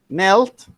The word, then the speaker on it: knelt: Uncle Jim Knelt. climbed Knelt. down. Abdul Majid. We don't pronounce the K. We say knelt.